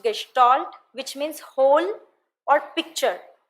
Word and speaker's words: Gestalt: Gestalt is A German term pronounced gestalt Which means hole or